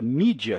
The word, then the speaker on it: media: na verdade em latim a palavra média que em inglês não é se pronuncia mídia daí veio na verdade